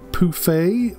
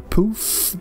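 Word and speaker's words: pouffe: corner there so like a poufy or a poof depending on where you're from and how you pronounce it why are there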